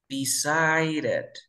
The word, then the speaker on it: decided: Entonces aquí pronuncio como R, sería decided, decided, ¿cierto?